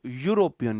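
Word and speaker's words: European: मैंने तो नहीं लिखा, आप इसे प्रोनाउंस करो, यूरोपियन, यो। पहला मुंह से पहला साउंड क्या निकला, पहला साउंड निकला है या।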